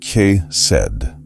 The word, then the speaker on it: chesed: There's a concept in the Old Testament called chesed, pronounced ke-sed.